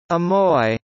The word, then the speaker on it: Amoy: The Amoy dialect is the main dialect spoken in the Chinese city of Xiamen, formerly romanized and natively pronounced as Amoy, and its surrounding regions of Tong'an and Shang'an, both of which are now included in the Greater Xiamen area.